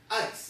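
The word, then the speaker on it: εἰς: is not there now the Greek word that's there is this word called ice and it's spelled with three letters as the epsilon the iota and the Sigma and it's yes ice is how you would say it the word literally means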